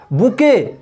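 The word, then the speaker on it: bouquet: बुके, बुके miss होता है गुलदस्ता। इन शब्दों में भी टी साइलेंट है।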